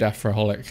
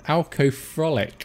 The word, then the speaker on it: Alcofrolic: I'm good, Afroholic. How are you? Am I pronouncing Alco? Oh, wait, it's Alcofrolic, not Afro.